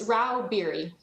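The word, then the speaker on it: Rauh-Bieri: how do you say your name ma'am it's Ral beer thank you uh Miss Stags leral lobbyist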